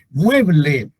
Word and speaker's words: mueble: se pronuncia la palabra por ejemplo mueble mueble tiene acento en mué que es la sílaba tónica pero no se tilda